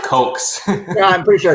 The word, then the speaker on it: Koch: Koch brothers is pronounced Coke. Coke. So it's not cock at all.